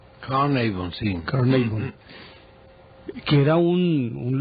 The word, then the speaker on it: Carnarvon: Pero la historia cuenta que este señor Howard Carter fue y le pidió cacao a Lord Carnarvon, o Carnarvon, ¿cómo se pronuncia? Carnarvon, sí.